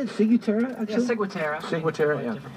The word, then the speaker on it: Ciguatera: Yeah, Ciguatera. Ciguatera, yeah. Different pronunciation.